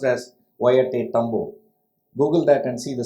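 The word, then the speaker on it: Ollantaytambo: itself is quite a tongue twister it's called polenta tambo it's pronounced as wyatt tambu google that and see the spelling it's surprising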